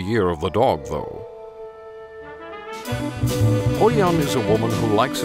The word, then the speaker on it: HoYeon: It's pronounced HoYeon.